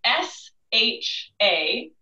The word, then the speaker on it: Shachi: tell you, it is S-H-A-C-H-I. So I tend to say that as Shachi, and I have heard that as sort of the most common pronunciation, but again, it's S-H-A-C-H-I.